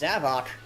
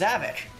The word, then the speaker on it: Zavok: It's Zavok. I thought it was Zavik. Like, Havoc. Zavik. Get it? Like, he causes... Zavik causes havoc. Hey. But, no, it's Zavok.